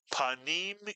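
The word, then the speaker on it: פנים: Put the word together. Panim is correct. Mitsuyan. Panem in Hebrew means face.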